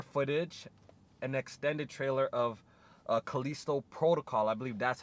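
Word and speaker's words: Callisto: they showed more footage an extended trailer of kalisto protocol i believe that's how you properly pronounce it it's by the people who made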